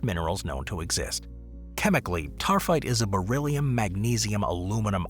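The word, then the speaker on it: taaffeite: Now, I know it doesn't look like it's pronounced that way, but it is tarfite.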